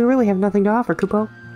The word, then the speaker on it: kupo: house left extreme danger kubo or as this one particular instance of mog pronounced it cubo which is wrong that's incorrect huh a caravan or